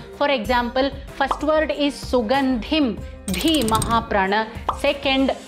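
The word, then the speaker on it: सुगन्धिम्: Mahaprana is where you have to put in a little extra breath while pronouncing. For example, first word is Sugandhim, Dhi Mahaprana.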